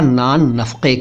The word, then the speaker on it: नान नफ़क़ा: नानो नफक ठीक है ध्यान दीजिएगा इन शब्दों पर और सही उच्चारण कीजिएगा नफ का मत बोलिएगा या नफ का मत बोलिएगा ये नफ का है का का का का नफक असल में नफक नानो नफक या नान नफक लेकिन चलता है नफक नान